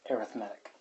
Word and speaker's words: arithmetic: seeing that word readed but if it's describing something like a sequence then the way that's pronounced is arithmetic so no I'm not